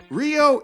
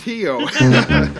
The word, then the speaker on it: Rio: in Brazil says this Rio is pronounced Hyo I read that you